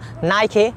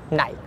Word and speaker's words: Nike: pronounce that in between that's called nike not knight clear so i have